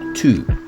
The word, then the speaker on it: to: On emploie to. Par exemple, savoir se dit to know, to know. To sert à exprimer l'infinitif. Le mot to s'écrit T-O. Ça se prononce de la même façon que too late, trop.